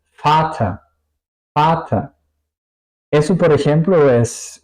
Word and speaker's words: Vater: Al contrario, la V alemana suena un poco como una F, ¿ok? Vater, Vater.